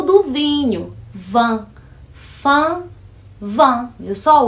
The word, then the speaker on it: vin: Esse fã do an, maçã aí, é o do vinho. Vin. Fã, vin. Viu só? O fã, eu sou fã de alguém. Vin. Coloca o V e você tem vinho em francês.